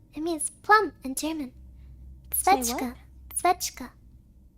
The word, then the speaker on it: Zwetschge: Schwetzka. Kawaii. Nani? What is Zwetschge. plum? Zwetschge. It means plum. Demo, because it has the zw. It has the zw sound. It's difficult for non-German speakers to pronounce.